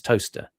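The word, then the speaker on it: Towcester: It's just that's the town the town of, you know, it's toester on print, but it's it's toaster uh when you when you say it.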